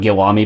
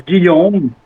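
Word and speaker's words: Guillaume: ] glad y'all got Gilami back. Is that how you say his name? Well, it's Guom. Gom. Oh, it is Guom.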